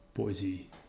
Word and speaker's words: Boise: we're heading to kboi okay b oh hi boise i'm pretty sure that's how you pronounce that hit enter and now we have